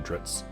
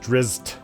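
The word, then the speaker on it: Drizzt: with uh dritz drizzit i call him dritz it's drizzed i think is the proper name to pronounce it yes he is uh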